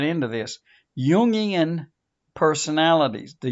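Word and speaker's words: Jungian: get right into this Yan personalities the Yan perspective yian spelled j u n g i a n Carl yung's perspective okay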